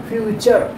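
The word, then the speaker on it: future: फ्यूचर। Here the T pronunciation is च एंड द नेचर, पढ़ते हैं ना।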